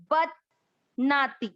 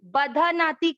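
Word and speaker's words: बध्नाति: बद नाती, बधा नाती कोई नहीं पढ़ना, ध आधा, ध पर एक बार इस तरह से, जहां आधा अक्षर होता है वहां ऐसे करके बोलते हैं, आघात करके, बदनाती।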